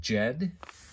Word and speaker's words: Ged: The next one here we have is Jed. It's spelled in English G-E-D.